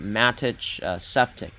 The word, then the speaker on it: Matej Sepcik: He told me I can pronounce his name like Matthew, but I believe it's pronounced Matej Sepcik would be his last name. So Matej first name, Sepcik last name, and yeah, we had